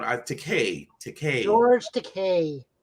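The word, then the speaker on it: Takei: sulu um mr george to key i keep on i take a take george decay it's okay i always got married i always got to make sure to pronounce the eei at the end um again representation absolutely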